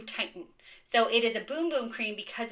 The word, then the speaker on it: Bum Bum: Okay, and I know that I'm saying boom boom and it looks like bum bum, but it is pronounced boom boom in Portuguese.